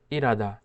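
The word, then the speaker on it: 일하다: উচ্চারণ করে, সেটা হলো ইরাদা। রিউলটা হিউতের কাছে নিয়ে যায় এবং হিউতের উচ্চারণ করে না।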